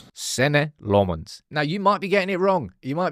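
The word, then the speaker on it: Senne Lammens: How would you pronounce your name? Senate Lmens. Sen Lmonds.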